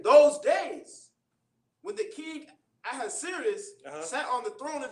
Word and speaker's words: Ahasuerus: Is that how you pronounce it, sir? Right. This is Ahasuerus which reigned from India, even unto Ethiopia, over 107 provinces.